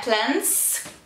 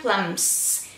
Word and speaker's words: plums: Tem que fechar a boca, não é plants, que é tipo som de N. Fecha a boquinha. Plums.